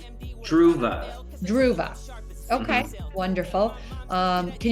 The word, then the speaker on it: Dhruva: yeah it's actually pronounced Dua the the V is silent and the D is enunciated and it's a South